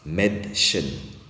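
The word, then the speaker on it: Mädchen: comme prononciation mais c'est la prononciation se change en est par exemple et comme la fille das Med Chen ce n'est pas dasmade vous voyez un peu la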